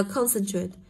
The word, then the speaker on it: concentrate: sẽ được đọc như thế nào đây ạ đọc là concentrate thì âm đấy của cô sẽ được đọc